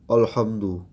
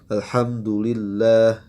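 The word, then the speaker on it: الحمد لله: ya catatan juga ya E dibacanya Hamzah itu di awal kadang dengan tebal alhamdu alhamdu ya dengan O seperti berat Ya seharusnya kita membacanya dengan tipis a hdu ya alhamdulillah ya alhamdulillah atau ha pun di baca dengan tebal ini tanbih buat Antum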